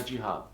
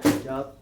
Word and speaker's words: hijab: respectfully with long sleeves, long pants, and a jihad. Uh-huh. A what? Hijab.